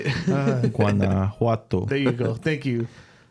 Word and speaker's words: Guanajuato: Guanajuato.